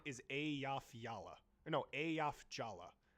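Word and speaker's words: Eyjafjalla: Or no, Ayaf Jala. The first J is pronounced like a Y, and the second J is pronounced like a J.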